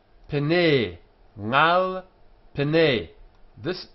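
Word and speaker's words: פְּנֵי: This is a long e sound, pene.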